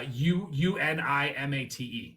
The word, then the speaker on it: Unimate: Yeah, Unimate. Unimate. It's supposed to be like yerba mate, but Unimate.